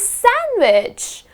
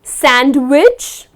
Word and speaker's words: sandwich: I am starving and I need to grab a nice delicious sandwich. So it’s not sand wich. It is just sandwich. Again you do not pronounce the letter D.